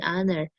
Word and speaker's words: honor: For words that begin with the letter H, an is used if the H is silent, an hour, an honor, an honest person. A is used if the H is pronounced, a holiday, a hotel, a high grade.